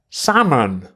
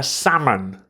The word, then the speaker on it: salmon: a salmon salmon huh salmon the l in salmon is silent you need to leap like a salmon are you okay mr